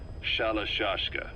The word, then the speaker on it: Shalashka: Someone must have known about that because somewhere along the line, Shashka got stuck on the end of Sharashka. The gorillas were using the name amongst themselves. By the time I got to hearing about it, pronunciation had wound up as Shalashka.